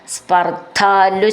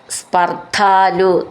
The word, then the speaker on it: സ്പർദ്ധാലു: ഈ വാക്ക് ഒന്നിച്ച് ചൊല്ലാനുള്ളതാണ് സ്പർദ്ധാലു ശതമഖ സ്പർദ്ധാലു ധ എന്നുള്ള അക്ഷരം നന്നായിട്ട് ഉറപ്പിച്ചു പറയാനുള്ളതാണ് ശതമഖ എന്നുള്ളതിന്റെ ഖ എന്നും